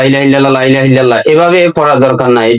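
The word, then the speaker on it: لا إله إلا الله: যদি বলেন লা ইলাহা, লা এটা 3 আলিফ টানা, এটা টানতে হবে কমপক্ষে 1 আলিফ টানা ফরজ। লা কমপক্ষে 1 আলিফ টানা ফরজ। লা ইলাহা ইল্লাল্লাহ, এটা আপনাকে এইভাবে উচ্চারণ করতে হবে।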